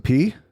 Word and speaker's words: Peay: Is Austin P? Yes, sir. I always like it's because it's spelled Peay.